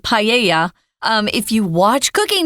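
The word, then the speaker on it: paella: and like Tom said it's weird because it's a Spanish word but even in English we pronounce it in the Spanish way paa I remember there was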